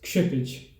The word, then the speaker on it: Kshitij: read my name is, how do you pronounce your name and is the K silent? So the way you pronounce my name is Kshitij. It has origins in the language Sanskrit, and no, the K is not silent because K, S, and H together make for an alphabet in Hindi or Sanskrit that needs to stay together.